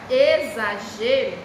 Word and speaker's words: exagero: Já na palavra exagero, ela é escrita com X. Mas na hora que você vai pronunciar, você pronuncia que letrinha? Letrinha Z, ó. Exagero.